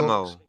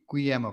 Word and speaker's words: Guillermo: but I'm still not sure how you pronounce it. And The Shape of Water was reportedly in talks. Guillermo. Yeah, Guillermo probably.